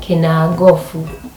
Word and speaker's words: Kinagofu: And that's why Kinangop in Kikuyu is called Kinagofu instead of Kinangop.